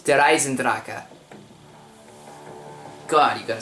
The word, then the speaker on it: Der Eisendrache: All you people keep pronouncing it either Der Eisendrache or Der Eisendrache. It's Der Eisendrache.